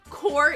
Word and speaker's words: corps: How course is spelled with silent P. Core, yeah.